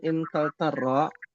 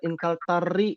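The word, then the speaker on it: إنكلترا: Jadi apa artinya hadat tabibu min Inkaltaro? Dokter ini dari Inggris. Waduh, jauh ya. Jauh ya dari Inggris ya. Sahih. Lihat Inkaltaro juga ada alifnya belakangnya, maka tidak boleh Inkaltari, nggak boleh.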